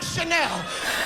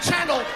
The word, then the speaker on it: Chanel: I like Chanel. I know I pronounce it channel, but nigga, don't you fuck this money up.